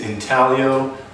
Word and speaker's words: Intaglio: that was a lot of fun the correct pronunciation for our name is intaglio laser & design and the reason why we